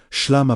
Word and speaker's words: shalom: Shalom pronounced, shalom, meaning peace, wholeness, harmony, and restoration is not passive acceptance.